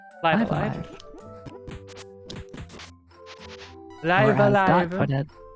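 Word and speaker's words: Live A Live: I believe it's pronounced Live Alive. Live Or as Dot alive. put it, both lives pronounced with trive. Yes, Or rhyme with trive.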